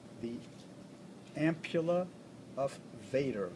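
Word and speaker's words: Vater: it's the ampulla of Vader v-a-t-r Vader in German is pronounced fata so again I don't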